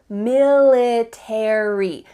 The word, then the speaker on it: military: In American English, you're going to pronounce each of the final letters, a r y.